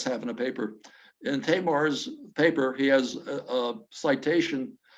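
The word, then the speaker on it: Tajmar: uh if you try i was pronouncing it tashmar but it's tamar t-a-y-r-m-a-r and martin he's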